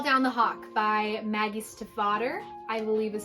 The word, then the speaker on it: Stiefvater: such as Call Down the Hawk by Maggie Stiefvater, I believe is how you say her name.